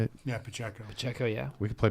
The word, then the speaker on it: Pacheco: Yeah, Pacheco.